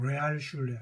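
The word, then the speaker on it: Realschule: 그룬트슐레가 그렇게 볼 수 있는데 또 뭐 그 이제 김나지움이나 그 다음에 우리 시립학교에 해당되는 레알슐레, 레알. 여러분 댓글에 레알, 영어 콩글리시로 발음하죠.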